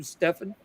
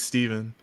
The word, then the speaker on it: Stephen: I don't like saying because you're pronouncing my name correctly my name is Stephen but I let people